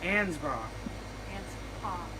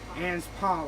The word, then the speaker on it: Anspaugh: I want to butcher ansbach ha sorry Anspaugh like a hug so she's a copywriter